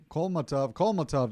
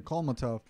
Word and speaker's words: Kholmatov: Raymond Foreman versus Otabek Kholmatov. Kholmatov. That's how you say his name. Kholmatov. So Kholmatov versus Ford is coming up next.